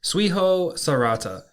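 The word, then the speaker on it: 追放された: Yeah, so today's Lance's Lessons is going to be the Japanese word for expelled, and that is Suiho Sarata. Suiho Sarata is spelt T-S-U-I-H-O-S-A-R-E-T-A.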